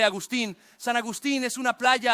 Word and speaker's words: Agustín: Y por cierto, así se pronuncia su nombre, Agustín.